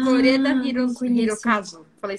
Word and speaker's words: Koreeda: Koreeda Ah, não conheço. Hirokazu. Falei certo? É desse modo Como que mesmo. fala esse Hirokazu nome? é Fala o pra mim. nome dele, né? E o Koreeda seria o sobrenome.